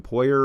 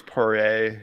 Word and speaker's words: Poirier: I think it's Poirier. I Yeah. think the R is silent, but Hmm.